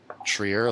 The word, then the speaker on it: Trier: me a phonetic thing trier trier like tear there's probably some weird r stuff that happens in german too for two okay uh